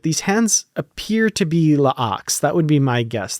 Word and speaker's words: La'ak: I'm still not sure how to pronounce his name. La'ak or Locke. It's L''AK.